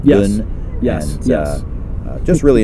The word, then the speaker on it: Beaune: And did I pronounce that right? Beaune? Bonne? Yes. Beaune.